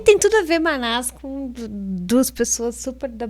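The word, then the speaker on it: Mannaz: runa antiga chamada Manás, que se escreve M-A-N-N-A-Z. que se pronuncia assim mesmo, Manás, e tem a ver com coletividade, com trabalho...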